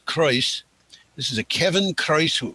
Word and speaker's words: Croes: CROES is Kreuz.